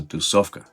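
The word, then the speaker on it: тусовка: It's only 3 syllables. Tu, sov, ka. Tusovka. An easy way to remember it would probably be the word tu, soft, and cat.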